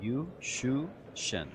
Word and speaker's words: Juszczyszyn: JUSZCZYSZYN. That's how he told me to do it. And I actually wrote it down in my notes with a U, and then SHU, and then SHAN. JUSZCZYSZYN.